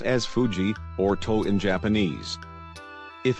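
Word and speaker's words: 藤: is called Fuji Mon this kanji letter is pronounced as Fuji or told in Japanese if a person's family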